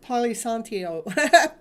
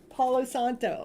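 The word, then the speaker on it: Palo Santo: you use the polyon I probably saying it wrong poly Santio I know I do it everyone while I gotta I got to cheat everyone I gotta get it out that's the wrong one paos Santo there we go you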